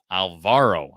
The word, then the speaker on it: Alvaro: Alvaro, I believe, is the pron I'm emphasizing the right syllables there.